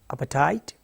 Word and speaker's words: apartheid: The pronunciation is apartheid.